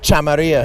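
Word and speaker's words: Chameria: Can you pronounce it? Chamaria.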